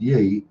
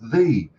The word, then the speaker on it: ye: oldie shopping that word Yi is not pronounced Yi it's pronounced thee because that Y is a representation of a word we used to have in the English alphabet called Thorn and it's pronounced so